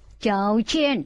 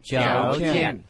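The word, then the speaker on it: 조건: Trong này điều kiện đọc là chào chen. Chào chen.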